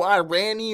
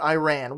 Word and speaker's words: Iran: kept talking about no I rani or Iranian or any of that nonsense on these videos no Buford i'm not talking about Iran which for the record is pronounced Iran I'm talking about irony